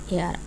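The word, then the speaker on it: heir: जैसे for example with silent H, यहाँ पे साइलेंट एच है। An honest, an hour, N एयर, an hour.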